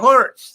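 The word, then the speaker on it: whorts: and south west island they're hurts there which is actually spelled with w-h-o-r-t-s or perhaps more popular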